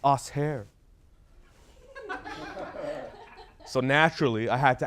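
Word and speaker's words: Assheir: her I'm like yo how do you say that right is it us here she said no it's us hair so naturally I had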